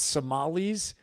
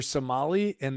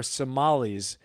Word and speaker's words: Somali: her to terrorism and Somali refugees in Minnesota. As he calls them, Somalian. I think it's Somalis. It's your Somali, and they are Somalis is the plural. Okay. So Somalian is not right.